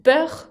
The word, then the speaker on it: peur: Con peur, con una R final que se pronuncia, ¿no?